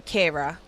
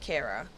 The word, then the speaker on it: Kyra: Yeah, it's pronounced Kira, but it's very much spelt Kyra, so it doesn't really fuss me either way, to be honest.